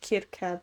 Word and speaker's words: Circe: I think her name's actually pronounced Kirke, but I'm gonna say Circe because that's what it is in the musical. But Kirke sounds cool.